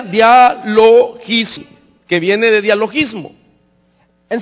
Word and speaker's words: dialogismos: Se pronuncia dialogismo, que viene de dialogismo.